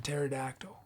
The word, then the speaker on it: pterodactyl: and the steam-powered pterodactyl what's up with the silent p is they don't know the story that why is there a silent p in pterodactyl i am saying it's it is silent right the p mr robert apple hurting